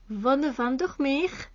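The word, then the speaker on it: Vonne van der Meer: Oui, c'est une femme néerlandophone, l'autrice, alors c'est pour ça que je prononce Von Vandermeer. Voilà, en flamand, en néerlandais, n'est-ce pas?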